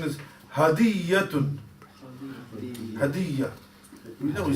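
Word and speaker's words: هدية: The correct pronunciation is hadiyatun. Hadiyya. We know we say hadiyya in Urdu as well. Hadiyya. Hadiyya like yes, or hadiyya like. It's really, it's that hadiyatun. The ya has got a tashdid, a shutdown in it.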